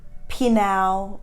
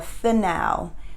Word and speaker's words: Phanuel: And she was the daughter of Penuel or Phanuel, depending on how you pronounce his name.